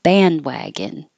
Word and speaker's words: bandwagon: You won't hear the D here at all. Jump on the bandwagon.